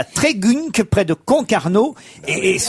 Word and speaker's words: Trégunc: Pardon, ça s'écrit T-R-E-G-U-N-C. Moi, je lis Trégunc. Bah oui, tu dis Trégunc, oui.